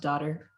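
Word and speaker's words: Dottir: found the answer yeah i think it might just be pronounced daughter lousy daughter because it's d-o-t-t-i-r so oh daughter daughter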